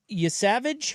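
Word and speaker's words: Yesavage: Yasavage? Is that how you Yes.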